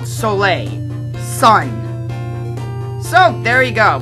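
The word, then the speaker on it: Soleil: I know it's I know I know it's pronounced solay town I'm in French class it literally translates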